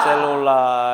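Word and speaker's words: cellula: Nulisnya celula, bacanya selula, ya.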